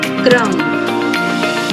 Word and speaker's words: क्रम: क्रम। तो क्रम, क के बाद र का उच्चारण हो रहा है यहाँ पर।